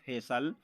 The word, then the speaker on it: facial: तो ए आपका vowels letter है। वोवल्स लेटर के बाद आपको CIAL आया, तो वहाँ पर हम उच्चारण निकालते हैं सल का। तो इसको हम पढ़ेंगे फेसल।